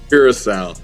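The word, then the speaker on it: Curaçao: So, for all you guys wondering, just so you know, uh, how you pronounce it again? Carousel.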